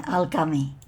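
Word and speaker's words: Alaghami: of the inner earth which they call the alakami alakami a-l-a-g-h-a-m-i algami the last pronunciation was the best al-gami and these beings are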